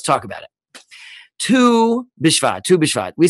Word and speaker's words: Tu BiShvat: about it two bishfa tu bishwat we said the word two is not the number two it's actually two hebrew letters tess and valve which you pronounce them it sounds like the word two but what they are